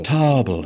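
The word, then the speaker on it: Toble: Tobble. It's spelled like table, which isn't a thing I was just looking at. It's Table. Table. T O B L E.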